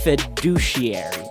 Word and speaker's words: fiduciary: pronunciations of this word, we've got a couple of schwas in there and a strong Y sound at the end, which sounds like a double E. So let me fill in the schwas for you. And let's say this one more time, fiduciary.